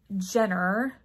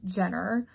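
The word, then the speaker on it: Junor: oh okay so Christina Jenner um it's ju n o r and she gives you instructions immediately that it's pronounced Jenner Stitch her delightful sampler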